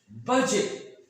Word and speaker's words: budget: Here D is silent before G.